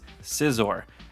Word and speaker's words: Scizor: chose for today was scissor scissor so it's like a lot some people say caesar or scizor or scissor but it's scissor and uh you know